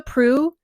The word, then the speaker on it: Proulx: Prue, it's spelled Proulx, and I have someone with that same last name in my office, and that's the only way I know how to say that name.